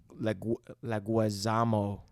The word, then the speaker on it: Leguizamo: John, I know I'm going to say his last name wrong, which is how most people even fucking... You just go for it. Leguizamo.